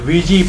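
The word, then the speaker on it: Ouija: तो वीजी board का नाम जो है OUIJ, वीजी पढ़ा जाता है, इसे प्रोनाउंसिएशन अलग है लेकिन यही है।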